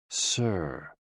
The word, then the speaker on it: si: associated with the heart s i pronounced like sir with a slow exhale